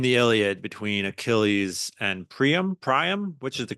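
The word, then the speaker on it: Priam: Iliad between Achilles and prium prium which is the correct pronunciation I'd say prium I think it's a little closer to the Greek but Prime is perfectly acceptable okay um and there's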